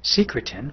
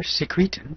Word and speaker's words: secretin: triggers a hormone called secretin or secretin depending on your pronunciation from s cells which